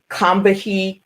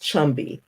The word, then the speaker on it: Combahee: It looks like it should be spelled, it looks like it should be said Combahee, but it's pronounced Chumby River, okay?